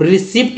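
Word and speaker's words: receipt: टी आया है तो यहाँ पर पी का उच्चारण नहीं करना है। तो करना क्या है भाई, कैसे पढ़ेंगे, अब रिसिप्ट लोग पढ़ते हैं आप पर, रिसिप्ट, अब देखते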